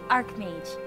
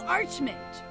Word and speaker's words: archmage: you hear that Twilight it's pronounced arc mage that's what I said the Royal Arch meant arch the Royal arc mage